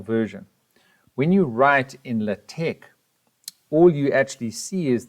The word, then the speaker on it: LaTeX: This student asks the big question, LATEX or Word, and that's how you pronounce LATEX.